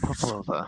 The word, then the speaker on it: Popova: Popolova. Or Popova, I suppose is the more common pronunciation.